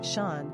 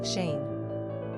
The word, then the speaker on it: Seán: Interestingly, in the south of Ireland, the name is pronounced Shawn, but the Northern Irish enunciation is more typically Shane.